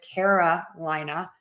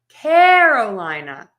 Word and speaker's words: Carolina: students actually is that if you shout or yell the word carolina, Carolina, you hear that stress syllable and then you can make the other syllables less stressed and shorter.